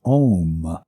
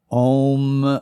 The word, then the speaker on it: om: the Sanskrit sound of om and that is often mispronounced as M but the sound is om and chanted it sounds